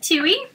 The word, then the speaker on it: Tui: your name okay so my name is pronounced chewy it's kind of bird that only lives in new zealand's and so alright so